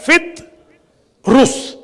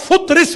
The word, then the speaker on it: فطرس: ہمارے یہاں اکثر لوگ غلط پڑھتے ہیں. کوئی کہتا ہے فطرس، کوئی کہتا ہے فطرس، کیونکہ جتنی زبانیں ہیں اتنے لہجے. اصل میں یہ لفظ ہے فطرس، اور فطرس بھی جائز ہے.